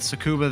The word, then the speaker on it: Tsukuba: I feel like I always butcher pronunciations, so I'm just going to try and wing it and go with Tsukuba there and pretend the T is silent.